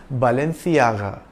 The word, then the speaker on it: Balenciaga: the spanish-spoken in Spain C is pronounced like the th in thing so its original pronunciation was Balenciaga it is a luxury